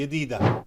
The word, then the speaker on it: جديدة: इमारात में इस तरह से कहा जाता है, यदीदा, दूर का इलाका.